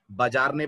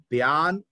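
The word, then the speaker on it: Bjarne: students को देखा है बजारने बजारने पढ़ते रहते हैं इसको काम ये गलती आप भी मत करिएगा लेटर जे साइलेंट है और इसको पढ़ा जाता है ब्यान स्ट्रो स्टप ये इनके नाम का प्रोनंसिएशन है एटीएनटी कंपनी में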